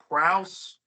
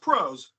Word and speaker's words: prose: the best, excuse my pronunciation of this word, prowse, but it's pronounced prose.